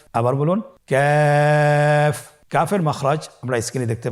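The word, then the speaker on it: كاف: আবার বলুন কাফ। কাফের মাখরাজ আমরা স্ক্রিনে দেখতে পাচ্ছি। কাফের মাখরাজ হলো জিহ্বার গোড়া থেকে একটু আগে বাড়িয়ে তার বরাবর উপরে তালির সঙ্গে লাগিয়ে উচ্চারিত হয়।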